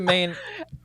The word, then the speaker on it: Maine: main the main flavor i didn't hear the e on the end of when you pronounced it so i was just i mean it is silent it is silent yeah